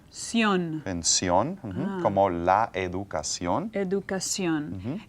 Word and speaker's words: educación: En sion, como la educación. Educación. In English, these words usually have a sh sound at the end. Education. Education. But in Spanish, they're pronounced differently.